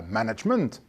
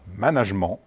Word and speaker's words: management: gagner l'angleterre par conséquent la prononciation correcte en france n est pas management à l'anglais mais bien management comme le recommande d'ailleurs l'académie française pour autant qu est